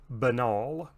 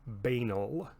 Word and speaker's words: banal: a controversial pronunciation and that word is banal or banal or banal those are all three listed in most dictionaries as appropriate pronunciations so you may hear